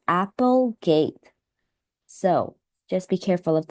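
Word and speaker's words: Applegate: the author since uh here it's spelled a p e so I think this is pronounced as Apple gate so just be careful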